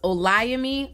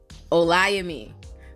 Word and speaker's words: Olayemi: that Breakfast Club interview hi my name is oami you heard that o yeah a lot